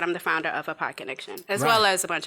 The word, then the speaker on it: ApodConnection: And like I said, I'm the founder of Apodconnection, as well as a bunch of other things.